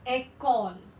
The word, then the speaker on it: école: Then the C will be pronounced as K. Say, école.